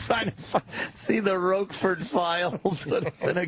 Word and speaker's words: Roquefort: Roquefort. Roquefort. Yeah, he had a great show. Jim Roquefort. That's who it is. The Roquefort Files. Jerry's solving a crime. That's kind of fun. See, the Roquefort Files would have been a good one.